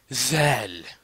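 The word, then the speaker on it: ذال: On va le prononcer tout simplement zel zel.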